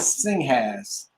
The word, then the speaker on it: Singhas: My other last name is Singhas. Singhas, which I've never heard anybody pronounce it correctly. But it's literally spelled just as it's spelled.